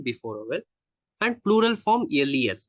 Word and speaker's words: les: vowel, and plural form les. We pronounce as le.